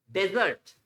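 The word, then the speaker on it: dessert: एस ई आर टी रेगिस्तान वाला डेजर्ट बिल्कुल सही है डेजर्ट बट इट्स डिजर्ट डिजर्ट मिठाई खाने के बाद कुछ मीठा हो जाए वाला मीठा डिजर्ट डेजर्ट डिजर्ट ओके गचर पढ़ते हैं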